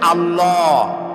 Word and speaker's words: আল্লাহ: আল্লাহ নয় কিন্তু আল্লাহ হচ্ছে অশুদ্ধ শুদ্ধ হচ্ছে আল্লাহ বলার সময় মুখটা গোল হয়ে যাবে বলেন তো সবাই উচ্চারণ করেন আল্লাহ আবার বলেন আল্লাহ আবার বলেন